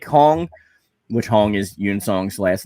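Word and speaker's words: Yun-seong: uh rocky said i still want to see yon song come back because i like this pop attitude and of course huang and and young song were both cool characters yoon song that's pronounced yoon you're in song yeah yoon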